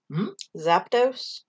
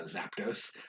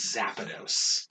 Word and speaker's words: Zapdos: question yeah same kid convinced it was zapinos what the like there's not a second a in there it's not z-a-p-a and he's like no